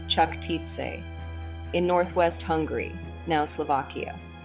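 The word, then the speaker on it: Čachtice: at her castle at kattic pronounced chak TI in Northwest Hungary now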